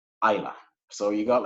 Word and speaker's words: Islay: So it's not Islay, it's actually pronounced Islay.